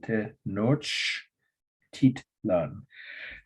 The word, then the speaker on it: Tenochtitlan: If you say it slowly and phonetically, it's literally, it's spelled phonetically. It's a Spanish word. Tenochi. Whoops, I missed already. Tenoch is Tenochtitlan. I'll say it again. Tenochtitlan.